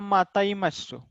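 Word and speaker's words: また会いましょう: माता आई मशो, प्रोनाउंसिएशन होगा माता ई मशो।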